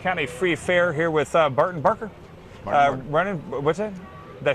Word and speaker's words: Barton Barker: We're back at the Fayette County Free Fair here with Barton Barker.